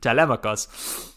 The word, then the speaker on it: Telemachus: So that's how I don't know how to say Telemachus in any other way now but the ancient Greek pronunciation, Telemachus.